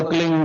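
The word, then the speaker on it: क्लीं: एक शब्द क्लीन शब्द क्या आधा ला में मिला हुआ, बड़ी एक ही मात्रा और बिंदी, उसका उच्चारण होगा क्लीन गा। गा की ध्वनि निकलेगी पीछे।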